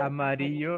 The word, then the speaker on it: amarillo: amarillo, like a CH or SH, something like that.